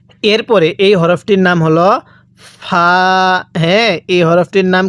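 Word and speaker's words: ف: এরপরে এই হরফটির নাম হলো ফা। হ্যাঁ, এই হরফটির নাম কি? ফা। দেখুন ফাটা উচ্চারণের সময় মুখ দিয়ে একটু বাতাস বের হবে।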